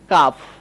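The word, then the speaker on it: calf: বা এটা কি বলব এখানে অনেকে এল কে উচ্চারণ করে ফেলে এই উচ্চারণটা অনেকে ভুল করে এটা হচ্ছে কাফ ক্লাফ উচ্চারণ হবে না কাফ উচ্চারণ হবে কাফ মানে হচ্ছে বাছুর।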